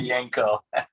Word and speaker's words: Miljenko: Miljenko. Yeah, I'm sorry I butchered it, man.